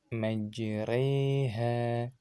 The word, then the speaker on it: مجريها: Nah, itu tadi bacaan imalah pada kata majreha.